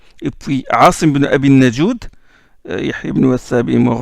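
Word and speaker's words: Najūd: Et on dit Asim ibn Abi Najoud parce que certains ils ne prononcent pas bien Najoud, ils disent Noujoud ou Najouad. Non, c'est Najoud, c'est comme ça que ça.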